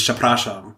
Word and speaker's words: przepraszam: And I was how do you say this? Przepraszam. And then they had a picture of a ship. And it was ship or a sham.